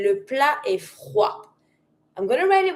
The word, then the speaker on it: froid: Because it's finishing with a d, mute. Don't pronounce the d.